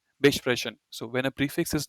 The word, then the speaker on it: besprechen: And when a prefix is not separable, you don't emphasize it. So this is pronounced as weiterleiten, but this is not besprechen. It's just besprechen.